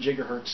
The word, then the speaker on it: gigahertz: it like i managed to get a 2.67 gigahertz seller on chip yes it's pronounced gigahertz look it up and i also